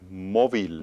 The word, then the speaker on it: móvil: Aquí sí, porque termina en L, termina en un consonante que no es N o And S. the emphasis is over the o.